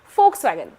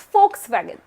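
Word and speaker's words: Volkswagen: Folkswagen. So J is year and V is fur. Japan is Yapan. Similarly, it's folkswagen. V stands for fur. So folkswagen. There are four extra alphabets in German as I said.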